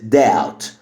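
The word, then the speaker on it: doubt: كلمه معانا ومستخدمه بكثره هي كلمه داوت داوت مش داوت داوت البي هنا سايلنت يعني شك البي لما بيجي بعدها تي البي بتبقى سايلنت داوت داوت تاني كلمه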